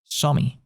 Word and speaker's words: Xiaomi: So, Xiaomi is how you pronounce that word, which sounds like shami.